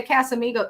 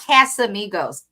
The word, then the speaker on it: Casamigos: She can't even say Casamigos. It's not Casamigos. Ha. Take Spanish. Ha. That's how it should be pronounced.